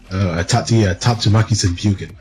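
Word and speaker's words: Tatsumaki Senpukyaku: Tatsumaki Senpuken. That's how you pronounce it.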